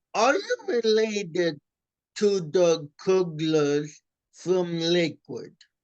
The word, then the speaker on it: Kugler: You know what's funny is is we pronounce it Cougler and they pronounce it cuggler. So a lot of people call me Yosu Cugler, but really it's Yosuk Cougler.